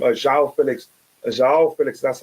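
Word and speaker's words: João Félix: can say what's his name uh Zhao Felix Zhao Felix that's how he said his name is pronounced I have to look at that again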